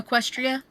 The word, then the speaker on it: Equestria: Uh, Equestria.